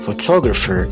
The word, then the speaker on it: photographer: pip in real quick, so in the word photograph, I have like no idea how it's pronounced, and I just said like photographer, and then it should be in a dictionary, it should be like photographer, so the second syllable it should be stressed.